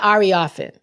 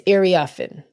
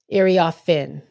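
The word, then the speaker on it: Iriafen: It's not Ariafin. It's Iriafin. Iriafin. The FEN is where you put the emphasis on.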